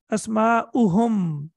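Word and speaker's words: أسماؤهم: The pronunciation will not change. We will not say Asma'uhum. Don't prolong it for 2 seconds. La. There is no need to prolong it. We will read it as Dhamma.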